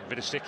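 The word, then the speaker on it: Vidošić: Center forward as well Dario vidich vidik if you want the Australian pronunciation he's born in Croatia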